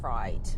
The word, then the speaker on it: Frith: It's spelt Frith, but the locals have decided to pronounce it Fright, which Now, have they though?